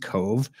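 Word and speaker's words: Cobh: 123 passengers Queenstown now now known as as Cove spelled c o BH because Irish c c o BH is pronounced Cove uh so there is there in Cove Ireland where it stopped to take on the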